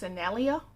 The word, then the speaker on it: Sennelier: white night student grade stuff i think it's pronounced sennelier no that's a completely different plan i've got